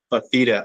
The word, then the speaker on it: Fifita: Fifita. I couldn't pronounce it earlier.